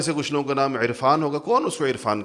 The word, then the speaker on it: عرفان: کچھ لوگوں کا نام عرفان ہوگا، کون اس کو عرفان کہتے ہیں؟ عرفان کہتے ہیں، حمزہ سے کہتے ہیں، تو ہم عین کا تلفظ کرتے نہیں ہیں، حالانکہ لکھتے ہیں، کرتے نہیں۔ اب قرآن میں کرنا